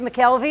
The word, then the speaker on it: McKelvey: Is that how you say it, McKelvey?